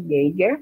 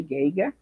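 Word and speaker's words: Geiger: a de Pedro pinchas Gere né ou gente vai depender lá da pronúncia mas a maioria das pessoas né em chama de guiga e ele divide o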